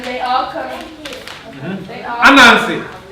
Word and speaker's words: Anansi: Anansi. Anansi.